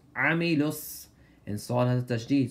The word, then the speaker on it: عملوا: الذين آمنوا وعملوا الصالحات So pronounce the عين with harshness عملوا And صال has a